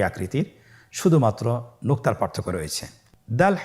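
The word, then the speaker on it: دال: দাল হরফটি বারিক হরফ। এ হরফটি উচ্চারণ করার সময় আমরা অবশ্যই তিন আলিফ টেনে পড়বো।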